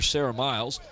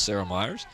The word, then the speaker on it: Sarah Myers: And I may have mispronounced Sarah Myers' name wrong. If I did, I apologize. It's Sarah Myers.